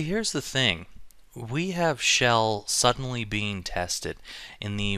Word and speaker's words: Chell: And as you may or may not know, Shell is the main character. Some people like to pronounce it Chell and all that kind of stuff. I like Shell, to be honest.